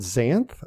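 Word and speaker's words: Xanth: it's a novel series called zanth I think is the right way to pronounce that XA nth Piers Anthony is the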